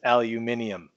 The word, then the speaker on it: aluminium: And I'm going to continue to pronounce it that way and spell it that way, even though the International Union for Physics and Applied Chemistry has said that it is actually supposed to be written and pronounced as aluminium.